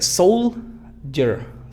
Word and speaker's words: soldier: Soul, fíjate, fuerte. Soldier. Pero no es soul con esta U, sino soul. Soldier. Una U sutil.